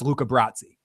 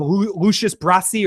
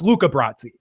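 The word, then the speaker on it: Luca Brasi: Yeah, Chris has is a but he knows movies and he shouldn't mispronounce Luca Bratzi. He he calls him Lucius Brassi or something Brahi or something.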